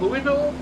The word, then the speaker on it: Louisville: like how logos pronounce Louisville yep like you've got Louisville or Louisville like Lewis you've got Louisville because of King Louie but hey manic um